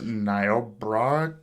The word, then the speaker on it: Niobrara: There was this broadcast interruption out in this, I think it's pronounced Niobrara County.